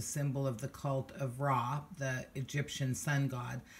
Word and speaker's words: Ra: of the cult of Ra, the Egyptian sun god. Some people pronounce that Re, so you'll hear both Ra and Re.